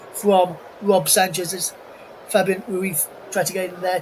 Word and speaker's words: Ruiz: Marquinhos, Beraldo and Mendes, Neves, Vitinha, Ruiz, or Ruiz as his pronunciation is.